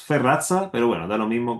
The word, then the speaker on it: Sferrazza: Muchas gracias, doctor Fesarra, ha sido un gusto y el equipo de derechos humanos le agradece su presencia. Muchas gracias, Rodrigo. Mi apellido solamente es Ferraza, pero bueno, da lo mismo como lo pronuncien.